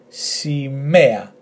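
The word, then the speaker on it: σημαία: Okay, so we have s, I, m, e. Our emphasis, e-a, simea, simea, which means flag.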